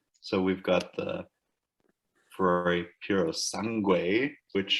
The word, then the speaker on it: Puro Sangue: So we've got the Ferrari Puro Sangue, which sounds much more elegant when you're Italian and not so much when you have half Asian descent. You pronounce that again for us? Puro Sangue.